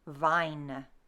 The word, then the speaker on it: vein: In Middle English, we would pronounce it vine.